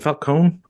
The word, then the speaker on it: Falcone: It can be pronounced both ways. Like Morricone or Morricone, like both seem to be accepted, right?